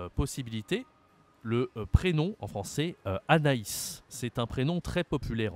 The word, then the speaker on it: Anaïs: a aussi d'autres possibilité le prénom en français Anaïs c'est un prénom très populaire en français Anaïs